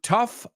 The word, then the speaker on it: tough: one is correct Laura the next one tough rhymes with Huff absolutely the next one